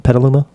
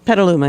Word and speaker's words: Petaluma: How do you pronounce it? Petaluma? Petaluma.